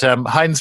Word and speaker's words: Hine: And with my name being Hine, the word for the company Heinz, Heinz, sounding phonetically similar, when I was at